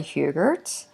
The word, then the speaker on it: Hubert: my name is Hubert and I get my last name pronounced a lot of different ways but it's hubert and I have a